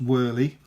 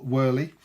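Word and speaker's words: Wehrle: And Cole, I think it's pronounced Worley, because I would have thought Whirl, but I'm sure I heard somebody say Whirly.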